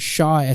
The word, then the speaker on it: Shah: Or on LinkedIn, you can search my name up, and that's spelled. For my first name. Last name is Shah, SHAH.